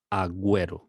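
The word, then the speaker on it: agüero: ge or gi but when we see that symbol we need to pronounce the u as in like we or we now let's see some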